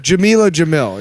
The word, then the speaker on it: Jamil: Is it Jamil, right? Yeah. I could be pronouncing that wrong. No, you're right. I forgot her names are very similar. Yeah, right. Jamil, yeah.